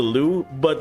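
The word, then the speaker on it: Lü Bu: Lu Bu. That's how you pronounce it.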